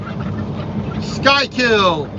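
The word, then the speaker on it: Schuylkill: be happy about that sky kill s-c-h-u-y-l style don't ask me why it's spelled that way but it is so this is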